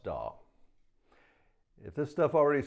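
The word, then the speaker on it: DAW: a digital audio workstation that's abbreviated as d-a-w and pronounced doll if this stuff already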